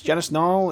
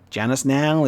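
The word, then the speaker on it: Janice Nall: her name in english we now know that it's now janice now is your gal because otherwise it's not going to rhyme is it i've got another one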